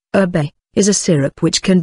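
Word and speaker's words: şerbet: Sherbet, Turkish serbe, pronounced erbe, is a syrup which can be made from any of a wide variety of ingredients, especially fruits, flowers, or herbs.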